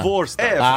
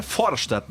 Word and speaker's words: Vorstadt: Todo mundo fala Vorstadt. Isso aí. Tu já deve ter ouvido o bairro do Vorstadt. Vorstadt. Mas é que ele fala... A pronúncia alemã é Forstadt, né?